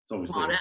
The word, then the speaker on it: Monash: Is it Monash? No, it's obviously Monash. a typo. Monash? Oh, Monash. Monash University since 2003. That's funny. So it's not just us Australians that get the pronunciation wrong.